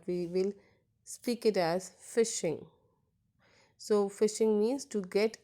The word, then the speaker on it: phishing: We'll spell it out it as phishing, but we will speak it as phishing.